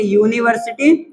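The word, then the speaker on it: university: अब इसको अगर हम बोलेंगे इसका उच्चारण करेंगे तो कैसे करेंगे? यूनिवर्सिटी। ऐसे कुछ करेंगे। यूनिवर्सिटी। अब यूनिवर्सिटी देखेंगे। यूनिवर्सिटी किस साउंड में जा रहा है? कसोनेंट में जा रहा है।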